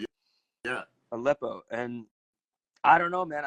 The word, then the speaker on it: Aleppo: Aleppo.